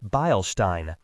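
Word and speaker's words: Beilstein: This is a volume of Balestein. He pronounced it Bilestein.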